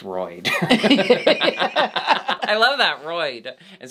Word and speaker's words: Royd: king drug performer name roid ray welcome to the stage roy ray yeah i love that but roid's the first name hey ray actually my name is royd i love that roid